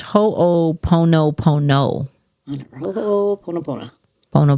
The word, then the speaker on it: Ho'oponopono: It says it's pronounced ho pono pono.